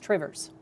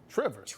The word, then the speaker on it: Two Rivers: Door County Coffee, yeah, his, I guess his sister-in-law and brother-in-law live in two rivers which if you're from Wisconsin, it's pronounced Trivers. Trivers, rivers, rivers, little apostrophe there, yes, OK.